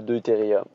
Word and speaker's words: deutérium: le tritium et l'ydrogène l'isotope hydrogène 2 on l'appelle le deutérium donc c'est comme ça qu'il faut le prononcer ok donc on va